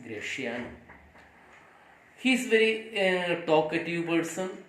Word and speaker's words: Gratiano: The next character, that is Gratiano. Sometimes it is also pronounced as Gratiano, but it is not Gratiano. It is real pronunciation is Gratiano.